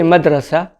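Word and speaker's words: مدرسة: small and simple example in arabic school means madrasa madrasa this is in standard arabic in spoken arabic it will be madras madras i should say an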